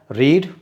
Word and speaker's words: read: क्या होती है, रीड, और रीड की थर्ड फॉर्म क्या होती है, रेड। लेकिन इसकी स्पेलिंग कैसी होती है, इसकी स्पेलिंग तो सेम रहती है रीड की, यानी READ, READ, तीनों ही फॉर्म्स में इसकी स्पेलिंग तो READ ही रहती है। लेकिन उसको पढ़ते क्या है, फर्स्ट फॉर्म में उसको रीड पढ़ते हैं, सेकेंड एंड थर्ड फॉर्म